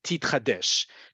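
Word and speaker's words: תתחדש: This is how we pronounce it in modern Israel, in modern Hebrew. This is a great one to know. Titchadesh.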